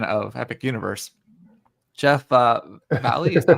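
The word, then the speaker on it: Vahle: Jeff uh Valley, is that how you say his name?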